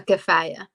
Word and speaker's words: Kafaya: A kafaya. Kafaya. Kafaya. With a K or a G? I don't know. A K. Kafaya. Exactly.